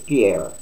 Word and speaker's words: Pierre: Karine Gina Perrier yeah I think I pronounced that right this time I didn't do so good on a video yesterday but it's Pierre yes okay since taking